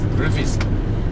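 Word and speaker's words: Rufisque: How do you pronounce the word again? Roofies? Roofies.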